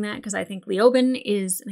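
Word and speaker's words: Leoben: And I hate saying that because I think Liobin is, and I keep saying Liabin, but Liobin is a stupid pronunciation.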